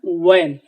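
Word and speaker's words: when: হয়েন এটা হয়ার এবং হয়েন না এটা হবে ওয়ার এবং ওয়েন ও দিয়ে উচ্চারিত হবে ও কারণ হচ্ছে ইংলিশে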